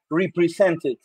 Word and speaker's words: represented: Y lo vas a pronunciar como represented. Represented, que la ed se sienta.